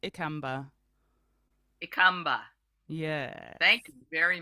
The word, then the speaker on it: Ikamba: that a lot so my last name is pronounced Amba EA yes thank you